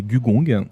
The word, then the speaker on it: Gugong: Alors, aujourd'hui, je vais présenter Gugong, prononcé Gugong.